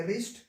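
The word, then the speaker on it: wrist: ठीक है, तो डब्ल्यू का काम खत्म हो गया, तो भाई बचा क्या, आर आई एस टी बचा, तो इसको क्या पढ़ेंगे, रिस्ट। यहाँ पे आर ए पी बचा, इसको पढ़ेंगे रैप।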